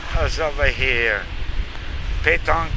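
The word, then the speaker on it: pétanque: Petanque pronounced Petanque.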